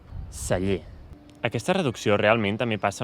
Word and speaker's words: celler: I després, en aquesta segona paraula, veieu que tenim dues E: la primera àtona, la segona tònica i diem: celler. Celler.